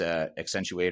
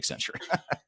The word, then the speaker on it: Accenture: from sorry T timu from ex accentuate or whatever you call yeah he's not from accent he's from sap yeah I'm not gonna let that go I'm gonna keep bringing up your mispronunciation of Accenture yeah okay anyways but